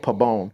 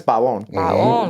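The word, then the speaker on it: Balón: Like people say it pabone. The name is Balon. Balon with with the accent over the O.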